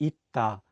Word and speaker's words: 있다: Another example would be 있다, which is the Korean word for the verb to be. Here, the 쌍시옷 is in the 받침 position, so it's pronounced as 트.